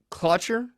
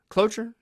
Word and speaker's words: cloture: uh and they created what's called a clutcher cloture michael j steele told me how to pronounce the other day but it's uh c-l-o-t-u-r-e that is the actual